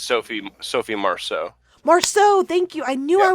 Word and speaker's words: Marceau: Marceau, thank you.